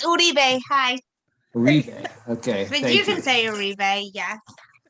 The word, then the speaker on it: Uribe: It's Uri. Excuse me. It's Uribe.